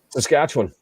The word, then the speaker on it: Saskatchewan: Saskatchewan. Saskatchewanian. I don't know why we call it Saskatchewan and don't pronounce it W-A-N, but we call ourselves Saskatchewanians.